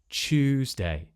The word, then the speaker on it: Tuesday: So we're replacing this t, y, t, and we're turning it into a ch sound, like in choose. Chewsday.